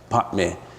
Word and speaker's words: Padme: Padme, if you pronounce it right, is Padme.